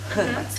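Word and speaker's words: Hrvatska: Наголос йде на перший склад завжди в хорватській мові, так? Так, тут такий нюанс, що в хорватській мові, як і в інших слов'янських мовах, є «ри», яке є так зване складотворче, тобто воно утворює склад, і на цьому складі є також свій наголос. Тому наголос на «ри» – Хирватська.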